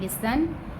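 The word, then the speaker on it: listen: WHO who mean कौन, IS is mean है, LISTN लिसन, लिसन में जो है T साइलेंट है, T की भी साउंड नहीं आती।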